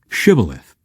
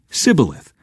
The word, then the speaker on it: Shibboleth: If the man said, "No, I'm not," they would tell him to say "Shibboleth." If he was from Ephraim, he would say "Sibboleth" because people from Ephraim cannot pronounce the word correctly.